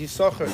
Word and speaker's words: Yissachar: Usually, I imagine the Baal Koreh here pronounces it every time he lanes it as Yissachar. The second sin is silent.